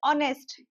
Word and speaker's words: honest: और ऑनेस्ट ये तो कई बार देखा होगा ऑनेस्ट की स्पेलिंग होती है एच ओ एन एस टी। यहां पर एच को प्रोनाउंस नहीं किया जाता है।